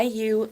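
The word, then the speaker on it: Wayuu: guy in cenia Colombia this is called a Yu bag right it's spelled w a yuu and this is a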